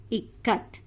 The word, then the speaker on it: Ikat: So totally it is pronounced as Ikat. Now got it, children? Listen here. I, you have to take the word in it. K-A, you have to take the word in Kamala.